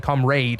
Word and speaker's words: comrade: so if anyone's wondering why they're saying come raid and we're saying comrade um it's come Raiders yeah the British English pronunciation is more evolved from the kind of traditional uh original pronunciation of the word um so we'll be